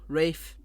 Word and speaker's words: Ralph: It's spelt Ralph, but he says it's Rafe.